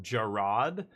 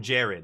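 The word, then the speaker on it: Gerrard: ago when uh I guess his name is pronounced Gerard, but I know people in real life called Jared and their name is exactly the same spelling. And so I called him Jared and my buddy's like his name is Gerard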